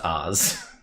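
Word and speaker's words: Ophz: would do it but the ph is silent it happened to oz in my my tuesday game so he's o p h z but it's pronounced oz anyway so yeah she's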